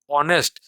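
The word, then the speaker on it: honest: करके आप देखिए, हिंदी में उच्चारण आपका ओ, ऑनेस्ट, तो ओ उच्चारण होने के कारण से क्या हुआ कि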